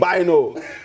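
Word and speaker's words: Bynoe: His name is Jonathan Boyne. Is Bino or? I think it's Boyne. It's B-Y-N-O-E, however you pronounce that. Wait, B-Y-N-O-E. It's not B-O-Y-N-E? No, it's B-Y-N-O-E. Wait, what? Yeah. It's Bino.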